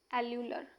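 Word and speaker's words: alveolar: एल्यूवर कैसे कैसे नाम है भाई, वैसे इसका एग्जैक्ट हम बोलते हैं एल्यूलर, ये इसका करेक्ट एल्यूलर एक्चुअल प्रोनाउंसिएशन ये होगा वैसे इसका।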